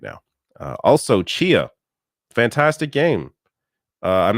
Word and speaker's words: Tchia: It's spelled TCHIA, I believe. Chia.